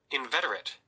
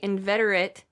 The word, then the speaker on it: inveterate: we're only gonna touch this is how you say the word inveterate yeah there's not a D but it wants you to say I D inveterate having a particular habit